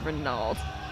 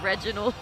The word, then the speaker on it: Reginald: I called it Renaud. It's Reginald.